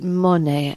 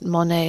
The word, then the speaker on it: Monet: heard about Zimbabwe's secret Monet, as in the artist Monet? I'm not mispronouncing money.